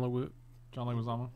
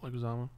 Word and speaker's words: Leguizamo: Starring John Leguizamo. Leguizamo. What are you going to say there? Leguizamo. I was going to pronounce it very wrong.